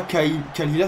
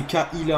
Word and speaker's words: Kaila: Et c'est pas Kalila, c'est Kaila.